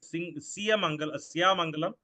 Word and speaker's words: Siyamangalam: Siya, it's incorrectly pronounced as Siyamangalam, but the correct pronunciation is Siyamangalam.